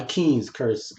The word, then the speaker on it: Kynes: That's why Keynes, however you pronounce it, it's Kynes. So I said Kynes. You say Keynes. I say Kynes all the time, right?